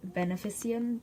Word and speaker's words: Beneficium: It is called Beneficium. That's how you pronounce it, Beneficium, and it is Latin